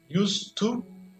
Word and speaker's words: used to: Used to influencia na pronúncia do use, então tem used to, I used to ride a motorcycle to work.